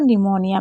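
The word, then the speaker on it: pneumonia: पी कब silent होता है? पी दो वर्ड मीनिंग में साइलेंट होता है। साइकोलॉजी और निमोनिया में।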